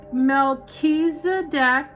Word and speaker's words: Melchizedek: Melchizedek, apparently that's how you say it, is a